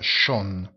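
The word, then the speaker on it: schon: vuol dire già e la o non ai due puntini si pronuncia sean mentre l'aggettivo bello bella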